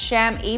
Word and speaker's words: chamois: It's pronounced chamois, but spelled totally different.